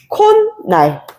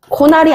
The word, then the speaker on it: 콧날: 차은후 코나이 예사롭지 않다 코나이 뭐야 발음할 때 우리 어떻게 돼요 그렇지 모음으로 끝난 말 다음에 다음으로 시작하는 말의 초성이 무엇일 때 은이나 음일 때 어떻게 한다 니은이 덧난다 그러니까 어떻게 발음이 되게 될 수 있겠어요 콧날 코알이 아니라 콧날 요렇게 덧나는 거야 니은 소리가 오케이 콧날 요렇게 더해지면 어